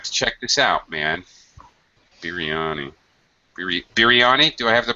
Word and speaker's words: biryani: Biryani. Biryani. Do I have the pronunciation correct?